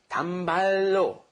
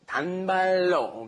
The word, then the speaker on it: 단발로: And what happens when you roll that together, it becomes 단발로, 단발로, okay?